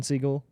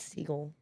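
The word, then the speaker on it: Segel: man or something with jason siegel because no it's seagull whatever you want it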